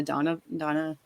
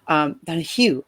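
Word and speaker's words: Donoghue: I don't know if you have read Room by Emma Donovan. I'm sorry if I get her name wrong. Donahue, that's it.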